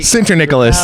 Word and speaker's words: Sinterniklaas: Michael Sinterniklaas. You almost got my name out right. Did I say it wrong again? Sinterniklaas. It's close enough. It's yeah, that's me. Sinterniklaas.